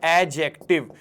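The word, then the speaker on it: adjective: This is नॉट एडजेक्टिव। D silent रहेगा इसका। हम इसको क्या बोलते हैं? ये है एडजेक्टिव।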